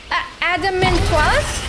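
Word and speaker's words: Adamantoise: same oh that is not sound good oh Adam and twice how do you say it in English that's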